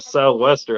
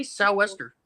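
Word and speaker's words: sou'wester: __ ] wearing a southwester up at the North Pole say relax your mouth why are you over pronouncing it just say s Wester just say it fast s Wester what he's not drunk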